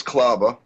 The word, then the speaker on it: Klauba: is that how you say your last name? It's Klauba. Klauba? Yeah.